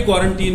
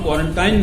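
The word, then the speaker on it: quarantine: तो this is, हालांकि क्वारंटीन में TINE आता है आखिर में, लेकिन उसको हम क्वारंटाइन नहीं पढ़ेंगे, ना बोलेंगे, बल्कि क्वारंटीन।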